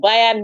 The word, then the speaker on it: Bayer: matches je yes please it's Bayer never losing you have to be getting it right yeah you're pronouncing it wrong B never losing yesterday